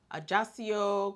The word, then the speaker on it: Ajaccio: can see we visited ajasio Corsica wow I said it right yeah I think it's just I just yes it's not Spanish it's French okay one of them so